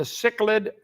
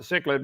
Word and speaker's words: cichlid: Tonight, making babies, the cichlid fish. I would not pronounce it cichlid, but that's what they do, so it's called cichlid.